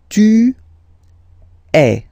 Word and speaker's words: tu es: And for tu, then you've got this combination of letters, okay, but then basically the sound you will pronounce or you will produce is e, okay, tu es, all right,